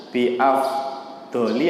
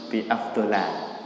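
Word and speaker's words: بأفضلَ: Nah ini kata Nabi SAW, ma ta'awadza an-nasu bi afdoli apa afdola? Bacanya bi afdola. Karena afdol itu tidak bisa pakai tanwin, jirnya, majrurnya harus pakai fathah. Bukan bi afdoli, tapi bi afdola.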